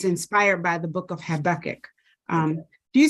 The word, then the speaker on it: Habakkuk: Habakkuk. Yeah, I hear people say Habakkuk, Habakkuk. I say Habakkuk, but I wanted to say it right.